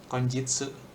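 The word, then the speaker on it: 今日: Tapi kyo bisa dibaca selain kyo. Kalau udah N3 ini bacanya konjitsu. Ini lebih formal.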